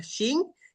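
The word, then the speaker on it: Qin: Este emperador es el que le da el nombre al país porque se pronuncia shin y por eso es que nosotros le llamamos Shina, ¿no? China de Shin.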